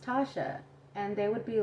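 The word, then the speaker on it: Tacha: call me thatcha and when they would try to pronounce it in english they would be like tatcha and i would always tell them like no that's not how you pronounce it it's pronounced tasha and they would be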